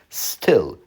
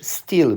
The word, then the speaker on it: still: Still. Nie mówisz steel, bo wymowa steel oznacza czasownik na przykład kraść. Kraść.